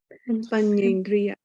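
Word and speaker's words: paññindriya: So can you pronounce? Panyendriya. Panyendriya. Yeah. Panyendriya. Right. So like my name here, Panya, right? Panya. So Panyendriya, Panya and Indriya.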